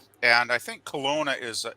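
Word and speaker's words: Kelowna: of for rent in col how do you pronounce that Colona Colona Colona Colona Colona I think it's a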